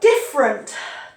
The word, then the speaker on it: different: They don't pronounce this E.